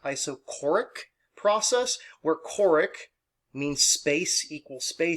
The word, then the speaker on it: isochoric: this is also called an iso this is pronounced isochoric process where choric means space equals space equal